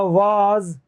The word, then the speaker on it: vase: ऐसे होता है VASE, ये होगा वाज, जो गुलदस्ता होता है, फ्लावर पोट, उसे कहते हैं वाज, वाज, ठीक है ना। VASE, ये आ का साउंड देगा, वाज।